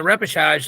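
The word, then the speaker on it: repêchage: Again, it's like people that don't understand the repechage, like, by the way, is that the right way to say that word, Grant?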